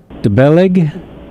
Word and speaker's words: Bellaigue: Is it Belaig? Exactly, brilliantly pronounced.